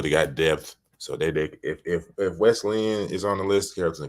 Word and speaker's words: Wesleyan: Wesleyan?